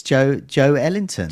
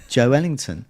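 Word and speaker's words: Joelinton: And he's got him saying it's Joe Ellington. Ellington. That's the way it was. Think of it like he's Duke Ellington's son, Joe Ellington.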